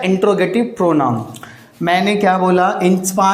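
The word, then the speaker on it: interrogative: और एक चीज़ ध्यान रखिएगा, इंटेरोगेटिव नहीं होता भाई, इंट्रोगेटिव। वो सुना हो ना वीडियो की स्टार्टिंग में इंट्रो लगाते हैं आप, ये वही तो है इंट्रोगेटिव प्रोनाउंस।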